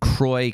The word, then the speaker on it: Croix: I think it's French. It's Croix. I'm pretty sure it's supposed to be pronounced Saint Croix, but I think in Wisconsin they call it St. Croix County, Wisconsin, to Minneapolis, according to Guinness.